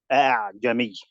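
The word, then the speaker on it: أأعجمي: Make it easy to pronounce. Don't pronounce it 100%. Jami.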